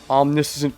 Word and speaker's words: omniscient: That's the American pronunciation. What other pronunciation? British pronunciation. Omniscient. Oh, that's where the confusion comes from. It's omniscient versus omniscient.